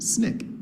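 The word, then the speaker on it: SNCC: Student Nonviolent Coordinating Committee which is acronymous pronounced Snick now usually all these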